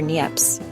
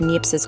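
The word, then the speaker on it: Niépce: And that hero was a French guy named Nie for Neps. I think that's how you say it. Neps. Sounds like a fancy sneeze.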